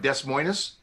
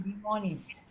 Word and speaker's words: Des Moines: Yeah, and Des Moines, it looks like Des Moines for Iowa is pronounced Des Moines. Des Moines.